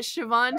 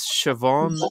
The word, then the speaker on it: Siobhan: So what they do is they dot the B and H to make it sound like va.